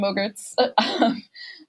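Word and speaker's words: MOGRTs: we do call them Mogurts for short. Rhymes with yogurt. We call them Mogurts.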